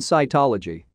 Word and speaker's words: cytology: G and C assume the soft sounds of J and S, respectively, when used before E, I, and Y. Examples are gene, gingivitis, cycle, and cytology.